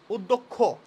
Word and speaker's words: অধ্যক্ষ: যোগ মূর্ধন্যস্ব আমরা জানি, ক্ষীয় ভাঙলে হয় ক যোগ মূর্ধন্যস্ব। এই ক্ষীয়টাকে আবার এই উচ্চারণটাকে একসাথে করলে এটাকে আবার খ হয়ে যায়, অধ্যক্ষ।